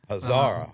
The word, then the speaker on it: Hazara: Hazara.